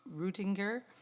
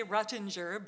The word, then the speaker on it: Rutinger: And our final delegation tonight is Heidi Rutinger. That would be the German way. Okay. Oh, Yeah. Did I say it right? Yeah, Okay. I just say Ruttinger, but Okay.